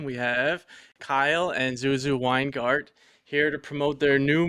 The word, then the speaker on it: Weingart: First off, I just want to say I'm very impressed that you pronounced Weingart correctly and Cuisine de l'Apocalypse.